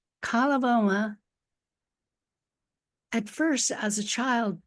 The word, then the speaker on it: Coloboma: You said Coloboma. Coloboma, at first as a child didn't seem like all that tragic or all that difficult.